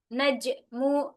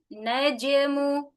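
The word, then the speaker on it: النجم: Anna an naj qalqalahnya najmu najmu tidak diakhiri dengan hamzah bukan dibaca dengan najmu, tapi najmu ya.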